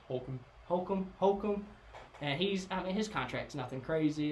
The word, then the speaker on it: Holcomb: Then you have Cole Holcomb, or Hulk, is how you say it correct? Holcomb.